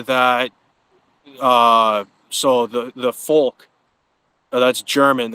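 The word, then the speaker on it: Volk: uh so the the folk that's German it's uh v o l k v in German is pronounced with an f um you have a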